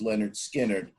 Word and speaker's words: Lynyrd Skynyrd: was actually recorded prior to their first album pronounced leonard skinner a song called uh down south duken yeah